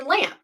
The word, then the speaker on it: Lamph: would be lamp yeah it's actually lamp like a light the h is silent so that's an insider